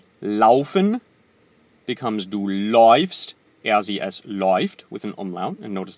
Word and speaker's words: läuft: Läuft, not lauft.